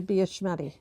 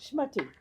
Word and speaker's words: schmattie: I think it'd be a schmattie. I love that word. So I love the pronunciation. how is it pronounced? Schmattie.